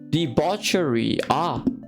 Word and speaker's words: debauchery: How do you say this? Debauchery. Debauchery. Alright, see? There. I was close.